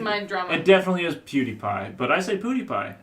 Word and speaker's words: PewDiePie: is yeah it's pretty crazy I think it's pronounced PewDiePie okay its beauty I didn't mind drum it definitely is PewDiePie but I think ooty by and I don't